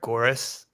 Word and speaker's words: Goeres: I say it Goeres. Kind of rhymes with chorus is how I say it to help people out.